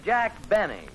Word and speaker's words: Benny: No, this is Jack Benny. Rhymes with Penny if he can arrange it.